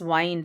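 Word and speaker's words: wind: Climbers also वाइंड themselves, इसको विंड मत pronounce करके, इट्स वाइंड है ना।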